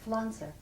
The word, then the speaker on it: Pflanzer: nobody knew how to pronounce it, how to spell it. And that's when I became. How do you spell Pflanzer?